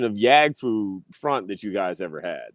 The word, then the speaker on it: Yaggfu Front: Usually, they try to make it more Asian, like Yaggfu Front, or sometimes they go Yag like Yag, or they go Yagfu Front.